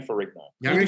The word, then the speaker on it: Ferrigno: I'm going to kill Ferrigno. Ferrigno is not how you say his name. It's an Italian name. It's Ferrigno. Whatever. Fucking don't Ferrigno. Ferrigno.